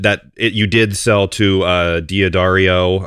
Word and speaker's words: D'Addario: I think I'm saying that right. D'Addario. I didn't add once and I called and heard them say it on the phone and then hung up and that's how you say it.